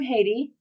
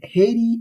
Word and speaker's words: Haiti: You are from Haiti. Am I saying it right? Oh, yeah, Haiti, yeah.